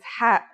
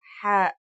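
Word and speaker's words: ح: It sounds like the sound you make when trying to cool your mouth and throat after eating something very spicy. The closest English counterpart to the sound is H. The only difference is that it comes from a point deeper down in your throat, just like this.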